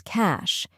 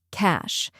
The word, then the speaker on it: cache: The correct pronunciation is cash. Yes, just like money.